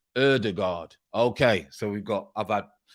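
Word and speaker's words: Ødegaard: tell you um i've spent years in scandinavia udegard is pronounced erdegaard okay so we've got about i thought it was older god i changed that to udegard and now it's erdegaard i was saying udergaard so erdegaard there you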